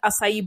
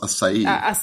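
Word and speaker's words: açaí: So this is how it's pronounced. Asai well this is this is the way you say it. Asai.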